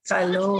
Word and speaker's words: calor: Calor.